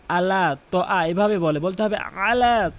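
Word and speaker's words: على طعام: করে, ছোট হা উচ্চারণ করে, এখানে বড় হা উচ্চারণ করতে হবে। ইয়াহুদ্দু, ইয়াহুদ্দু আলা, আলা তো আ, অধিকাংশ লোক আলা তো আ, আলা তো আ এভাবে বলতে হবে আলা তো আ, আলা তো আমিল মিসকিন।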